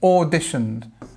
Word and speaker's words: auditioned: Auditioned. This or sound, nice and long, the dots here, look. Or, and then we have the stress, auditioned.